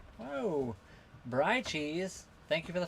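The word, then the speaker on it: Bry: Your name is spelled like B R Y, but it said Bri.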